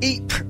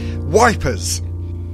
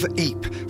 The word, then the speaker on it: Ypres: fire during the war because the British troops had trouble pronouncing its name they nicknamed the city wipers of the battles the